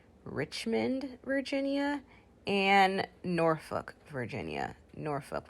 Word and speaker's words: Norfolk: virginia and norfolk virginia norfolk we don't pronounce that l we don't say norfolk we say norfolk washington washington washington so